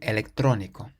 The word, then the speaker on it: electrónico: But because it has an accent on the O in the middle, we say electrónico.